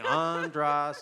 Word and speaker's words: Andras: Andras, it's like draws on.